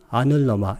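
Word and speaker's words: anuloma: 사실은 L 발음은 양쪽에 리을자를 풀어줘야 돼요. 그래서 빠딜로마, 여기는 아눌로마 이렇게 발음해야 되는데 그렇게 쓰면 이해하는데 약간 어려움이 있어서 제가 이렇게 썼으니까 이거 읽을 때는 아눌로마, 빠딜로마 이렇게 읽으면 되겠습니다.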